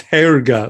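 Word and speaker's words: Hårga: you say that Harga it's hair gut like H think of a diphthong air hair guy hair guy uh that's the name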